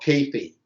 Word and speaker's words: kayfabe: The last DVD that he put out is called Kayfabe. That's a wrestling term. Oh, what's the term? Say it again. Kayfabe. It's spelled Kayfabe, but it's pronounced Kayfabe.